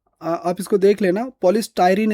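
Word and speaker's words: polystyrene: पॉलीस्टाइरीन इसको बोला जाएगा। अगर हम थोड़ा देखें तो बाकी इसका प्रोनाउंस देख सकते हैं आप। पॉलीस्टाइरीन है यह।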